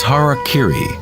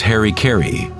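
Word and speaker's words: hara-kiri: one form of ritual suicide or seppuku was harak Kiri was often mispronounced as Harry KY it means to impale one's horor thereby cutting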